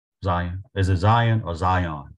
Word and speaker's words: Zion: Is it Zion or Zion? How do you pronounce it?